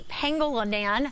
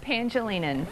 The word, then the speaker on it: Pangelinan: know is volunteer pengolan thank you so much for joining us I I know I butchered your last name how do you say that pangelinan thank you much better there